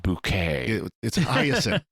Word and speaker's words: Bucket: francis bucket but she wants it pronounced bouquet hyacinth by accent that's it yeah okay so she has a yeah go ahead a lot of great lines even her husband says well i always pronounced it bucket until i met you that's awesome so